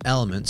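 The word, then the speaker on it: LMNT: missing important electrolytes I ordered some elements spelled with the four letters l m n t which has Essentials like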